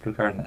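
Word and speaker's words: Pluscarden: benedictine community at and i'm never quite sure how to pronounce that blue card and i think it's pronounced but literally plus cardin it's blue card and it's pronounced blue garden abbey in the diocese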